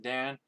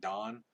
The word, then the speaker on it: Dan: like you're supposed to we pronounce it dan but i'm too used to calling it dawn to this day verse